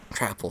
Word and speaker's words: Trapple: Trapple, sorry, it's pronounced like apple because it's a trout and an apple together.